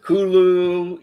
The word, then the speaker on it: Cthulhu: You can pronounce it Hulu. Yeah. I mean, there's there's really just no wrong way.